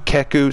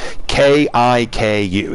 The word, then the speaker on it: Kiku: people somewhat dishonored yes it's spelled kiku keku sorry i'm not good with asian names k-i-k-u the first one is correct kiku the best way to